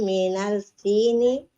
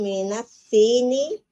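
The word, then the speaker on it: الصين: Khadijatu minal sini wa Khalidun minal yabani. Sini ya. As-sini huruf syamsiah. Sini di situ. Iya. Iya. Jadi ada tasdidnya ini Bu ya. Coba diulangi. Oh, ya. Khadijatu minas sini wa Khalidun minal yabani.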